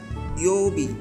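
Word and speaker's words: 曜日: Di sini ada Youbi, dibaca Yobi, agak panjang untuk pelafalannya. Jadi dibaca dua ketukan, dua harokat.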